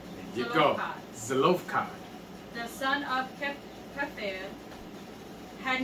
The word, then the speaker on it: Zelophehad: How do you pronounce his name? Let me do it in Zelophehad. You go. Zelophehad.